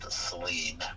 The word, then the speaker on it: Saleen: In 1984, a road racer named Steve Saleen, and yes, it's pronounced Saleen, not the other way.